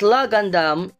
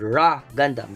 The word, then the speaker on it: LAH Gundam: okay and uh it's la Gandum in English but in Japanese it's called raw Gundam because they cannot pronounce the L.